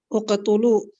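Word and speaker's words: اقتلوا: Yang pertama, kata yang pertama cara bacanya adalah Uqtulu.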